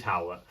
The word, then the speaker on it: Howlett: Anyway, while I'm here, how do I pronounce the guy's name from Howlett? Yeah, it is Howlett.